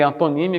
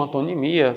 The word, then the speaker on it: antonímia: Aqui tanto faz você dizer antonímia como antonimia, sinonímia como sinonimia, gente.